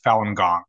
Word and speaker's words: Falun Gong: well let's start with your own relationship with falun gong which am I pronouncing that correctly yep yeah so I was